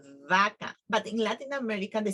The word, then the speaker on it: vaca: B and with V, because they pronounce the same. For example, for cow, we say vaca. That is how you need to pronounce vaca. But in Latin America, they say vaca.